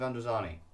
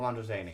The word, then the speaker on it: Androzani: This is The Case of Androzani, or Androzani. It's an interchangeable pronunciation, but a lot of people will also say this.